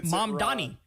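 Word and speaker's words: Mamdani: It's Mom Donnie. Mom Donnie. Mom Donnie. It's not that hard.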